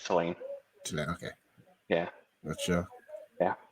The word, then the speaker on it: Tulane: Is that Tulane or Tulane? yeah, it's Tulane.